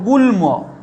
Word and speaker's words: গুল্ম: গলন, এইভাবে মনে রাখবে, গ ল দন্তন্যর সঙ্গে যদি মফলা যোগ থাকে তাহলে তার উচ্চারণ ময়ের মতো হয়। কীরকম উচ্চারণ দেখো, যেমন লয়ের সঙ্গে যদি লিখি দেখো গুল্ম, লয়ের সঙ্গে গুল্ম, গয়ের